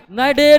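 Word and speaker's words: Cnidaria: निडरिया question त्रुटि पूर्ण है क्योंकि सिलेंटरेटा सिलेंट्रेटा कहीं दूसरा नाम क्या है नाइडे नाइडे का सी साइलेंट रहता है ये अंग्रेजी लैंग्वेज का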